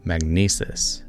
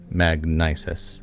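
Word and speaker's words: Magnises: base of operation for his new business venture magnesis as it's pronounced or magnisis as it's spelled it's like a credit card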